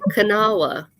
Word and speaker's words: Kanawha: It's Kanawha. So you just like put the K and the N next to each other. Just Kanawha.